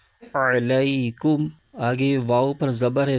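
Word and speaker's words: عليكم: کے ساتھ ملائیں گے۔ اس کے ہجے یوں کریں گے، عین زبر ع، لام یا زبر لئی، علی، کاف میم پیش کم، علیکم۔ آگے واؤ پر زبر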